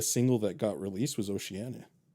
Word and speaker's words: Oceania: Oceania, yeah.